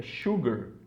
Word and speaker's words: sugar: Então não é sugar, é sugar, porque tem um sho aqui, ó, sugar.